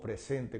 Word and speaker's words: present: como verbo no verdad se pronuncia present Okay present y tiene el acento no verdad en la segunda sílaba Okay en la segunda sílaba present present Okay the Stress is on the Second syllable o sea el acento